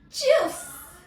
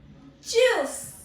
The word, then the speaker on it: tschüss: If you want to say bye informally, then you would say tschüss. Tschüss. Tschüss. Firstly, you need to, the T is silent here, okay? Firstly, you need to say it like chew.